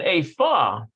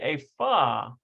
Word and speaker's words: איפה: Notice how they're saying Ephah. I think it's Apho. Apho. שלום אמא איפה יובל ואבא. I wonder why they're using a fa. Usually it's apho, right? All right, so they're saying a fa. So maybe because it's the first word of the sentence, a fa yuval ve'aba.